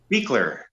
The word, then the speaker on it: Buechler: Next up is John Carl Buechler or Buechler? How do you say? Oh, Buechler. John Carl Buechler. Yeah, that's right.